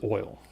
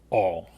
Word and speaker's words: oil: In my opinion, the most common is oil. And usually that's the way I say it. But when I was younger, in a small town, I would say all. And sometimes I still say it that way.